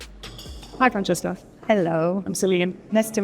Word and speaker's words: Francesca: Because the people were just wanting to know how to actually pronounce your name. It's Francesca. Francesca, sorry.